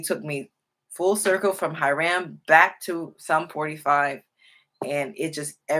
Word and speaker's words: Hiram: Is Hiram. That's what it means in that's the way it's pronounced in Hebrew. Hiram, and it means like whiteness, pure, whiteness, like white linen.